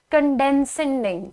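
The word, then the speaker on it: condescending: ठीक है, moving on टू the next word, the word is कंडेंसेंट, sorry कंडेंसेंडिंग। ठीक है, तो इट इज CONDE सेंडिंग। यहाँ पे आप प्रोनाउंसिएशन में ब्रेक लगाएंगे एंड दिस इज द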